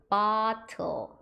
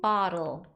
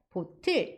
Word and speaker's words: bottle: 근데 원래 보틀은 우리나라식 발음이고 영어를 우리나라식으로 발음했을 때 보틀 이렇게 발음하는 거고 원래 영어식은 bottle 이렇게 발음하셔야 됩니다.